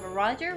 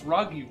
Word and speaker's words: Roggy: Sometimes he gives kisses, and we have Roger rules. I thought that said Rog. No, it's Roggy rules. Because there's two G's and only one R.